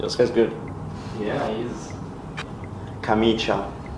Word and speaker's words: camicia: Camiche. No, Camicia. No, no, no.